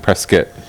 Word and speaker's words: Prescott: And that's how you pronounce it, Prescott. Prescott, Prescott's a colloquial pronunciation, right.